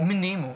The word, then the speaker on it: Mnemo: Sagt man Memo oder Mnemo? Mnemo, wie bei Amnese.